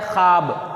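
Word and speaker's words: خواب: ख्वाब, अलिफ के साथ। तो ये वाव लिखा तो जाता है मगर पढ़ा नहीं जाता, इसी को कहते हैं वावे खामोश, यानी वावे साइलेंट।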